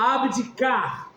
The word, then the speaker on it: abdicar: Qual é a sílaba tônica? A sílaba mais forte. Hã? Ó, abdicar. Onde eu estou colocando mais força na minha fala. Entende? Porque, ó, ab é tátono. Di, tato. Car, tá forte.